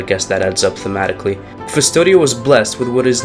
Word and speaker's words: Custodia: Blasphemous is set in Custodia, that's how you pronounce that, a land of faith and zeal,